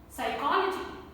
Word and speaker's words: psychology: Psychology, psychology. Pneumonia, pneumonia. Psychiatry, psychiatry. So P is silent in all these words. It is there in the spelling, but it is not there in the pronunciation.